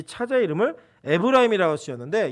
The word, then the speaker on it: 에브라임: 둘째 아들이 태어나니까 이 차자의 이름을 에브라임이라고 지었는데 이 에브라임은 히브리어로 에프라임이라고 발음하고 그 뜻이 두 배의 열매, 창성함이라고 얘기합니다.